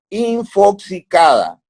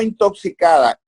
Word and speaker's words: infoxicada: La gente de la iglesia está infoxicada. No estoy pronunciando mal la palabra. Infoxicada, no intoxicada, infoxicada.